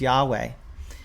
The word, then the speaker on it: Yahweh: name that as best we know how to pronounce it as Yahweh so he says the legacy Standard Bible is